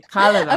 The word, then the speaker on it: Kalevala: You're absolutely right because I just said the stress is always on the first vowel. So you're absolutely right. Kala.